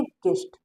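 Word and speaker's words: guest: में यू आया है यहां पर यू साइलेंट हो गया है इसके इसको पढ़ेंगे गेस्ट अगर आपको स्क्रीनशॉट लेना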